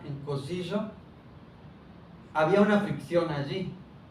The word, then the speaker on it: Cosiyo: con y es un poco más común y se parece, digamos que con y podemos pronunciar cosillo, como si dijéramos yo, yo, ese sonido yo, yu, es tiene una fricción ahí cosillo, pero también las palabras cambian, ¿no?